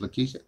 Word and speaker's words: Lakeisha: Key. I before E is key, is E. So it's Lakeisha.